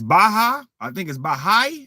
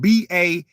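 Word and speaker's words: Baháʼí: I think it's Baha'i or something like that, because it's spelled BAHA''I. So we're gonna say Baha'i.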